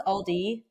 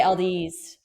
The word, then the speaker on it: Aldi: I guess I'm like my dad and I just You know how it's Aldi? I say Ald's like my dad.